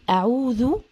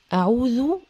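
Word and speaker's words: أعوذ: اعوذ برب الناس قل اعوذ اعوذ الذال هنا مضمومه اعوذ اعوذ اعوذ بربي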